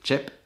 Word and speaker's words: TJEP: La marque en question c'est Chep, ça se prononce Chep, ça s'écrit T-J-E-P, et en danois ça veut dire vite.